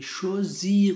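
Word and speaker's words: choisir: بعضې ملګرو ته دلته سوال پیدا کېږي چې دا اس خو دلته اس راغلی، دا ولې د زټ اواز ورکوي؟ شوزیر ولې تلفظ کېږي؟ دا ځکه هر کله چې د اغ نه هر کله چې اس له کلمې څخه وروسته او مخکې دواړو طرف ته واول راغلی وي، نو دا په دغه وخت کې یو اس چې دی دا زر تلفظ کېږي.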